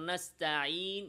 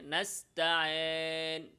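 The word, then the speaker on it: نستعين: ইয়ায়ের আওয়াজে আলিফের মিশ্রণ ঘটানো, যেমন নাস্তাইন, এখানে নাস্তায়েন, এভাবে।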